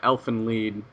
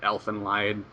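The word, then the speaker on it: Elfen Lied: Either way, um one of my all-time favorite animeus, as you guys should know, is uh Elf and Lead. Elen Lee is it's based on Germanic roots, so it's lied.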